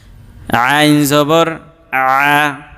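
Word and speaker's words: عَ: করা লাগে ঠিক আছে আইন জবর আ গলার মাঝখান থেকে চাপ দিয়ে উচ্চারণ করতে হবে আইন জবর আইন জবর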